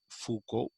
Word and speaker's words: Foucault: i had started talking to you about michelle foucault m-i-c-h-e-l michelle f-o-u-c-a-u-l-t foucault it's pronounced that way michel foucault is a frenchman